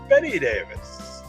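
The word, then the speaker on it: Bette Davis: Betty Davis Betty Davis spelled like bet Davis but pronounced Betty Davis there you go next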